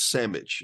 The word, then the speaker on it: sandwich: And I don't think it's spelled, there's no D, it's sandwich.